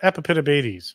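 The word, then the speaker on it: Epipedobates: A lot of people say it wrong. They say Epipitabates, but it's Epipitabates.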